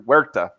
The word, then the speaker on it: Huerta: Was John Malin's Graveyard Shift Volume 2, Andrew Huerta. Oh, excuse me, Andrew Huerta. Don't pronounce the H.